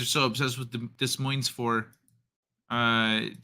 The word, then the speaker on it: Des Moines: get her she dancing forget the S is how you pronounce Des Moines clips that need weapon